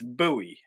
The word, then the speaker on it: Bowie: But to me, it's Bowie, as in Bowie knife and James Bowie and Reason Bowie and all that sort of thing.